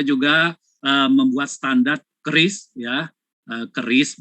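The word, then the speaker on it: QRIS: Nah, untuk mendukung di situ kita juga membuat standar KRIS ya, KRIS bacanya.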